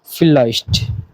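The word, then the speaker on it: vielleicht: দেখতে পারবেন ইয়া নাইন হ্যাঁ না এরপর আরেকটা ফিল্লাইস্ট উচ্চারণটা আবার শুনেন ফিলাইস্ট অর্থাৎ মেবি বা সম্ভবত আপনি সিওর না 50-50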